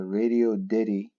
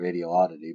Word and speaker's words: Radioddity: how to program the radio Diddy as I've been told that's how you say it I've been calling a radio oddity but I guess I was wrong it's Radio Diddy GD 77 it is